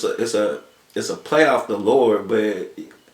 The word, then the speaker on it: Lour Sky: Still pronounce it Lord. Because when you country, you don't really say the D at the end, you know what I'm saying? We just be like Lord, so Lour Sky.